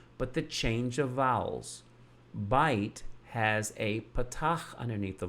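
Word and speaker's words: בֵּית: That it is not bayit, it's bite. But the letter and the construct form is bait.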